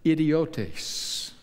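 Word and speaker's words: ἰδιῶται: men by the way that word ordinary there in the Greek is pronounced this way idiota they were unschooled idiots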